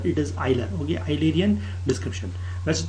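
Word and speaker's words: Euler: pronounce ढंग से कीजिएगा दिस इज एन आइलर ये जो स्पेलिंग होती है ई यू एल ई R this is आइलर और ऑयलर इसको यूलर यूलर मत बोला करें ठीक है अच्छा नहीं लगता इट इज नॉट यूलर इट इज आइलर okay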